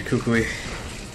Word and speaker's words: Kukui: we cook we now is it not two syllables they're not three syllables no you never pronounce an eye on its own Kukui come on Jake